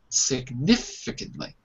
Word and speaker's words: significantly: There's a little apostrophe. That shows you that the stress is on It's on the nif. Significantly.